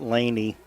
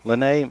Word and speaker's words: Lene: It's not Laney Mobley. Lene Mobley, I think. I believe so, yep. Lene Mobley, that's right.